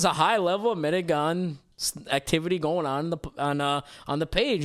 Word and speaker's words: Medigan: And then we have the very specific version that a lot of people are frowned for being this, and it's called a Medigan.